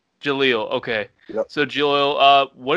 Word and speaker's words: Jaleel: Jill, I'm sorry if I say your name wrong. How do you say it? Yeah. Jaleel. Jaleel.